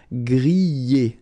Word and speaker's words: griller: You pronounce them A, okay, even if you've got this R, okay, this combination of two letters, ER, at the end, will give you the sound E, all right?